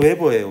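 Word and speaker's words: weber: 요건 단위는 웨버예요. 웨버 WB라고 쓰고 이제 웨버라고 읽는데 그냥 크게 기억을 안 해도 될 것 같습니다.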